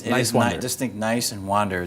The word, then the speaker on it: Niswander: Talking to Niswander. But it's Niswander.